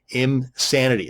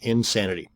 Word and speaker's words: Imsanity: And another one is Imsanity. That's I-M-Sanity, not Insanity.